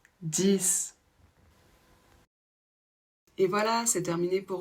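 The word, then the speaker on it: dix: le 6 c'est-à-dire que quand il est isolé on va prononcer le X comme un S exemple ouvrez votre livre à la page 10 si par contre il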